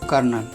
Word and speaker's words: colonel: कर्नल का spelling होता है COLONEL। ध्यान देने वाली बात यह है कि इसमें कोई R नहीं होता है, फिर भी इसके उच्चारण में जो है कर्नल आता है, र आता है।